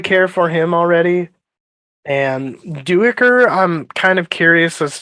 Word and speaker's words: Duiker: Oh, Duiker? Yeah. It was throwing me off. Oh. I don't know if it's a little bit of like dyslexia, but I kept thinking like Dukier.